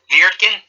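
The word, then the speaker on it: Wirtgen: Viertgen? Yes. Just replace the W with a V, and yeah.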